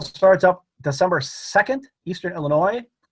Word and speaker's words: Illinois: up december 2nd eastern illinois the s is silent it's illinois and december 6th against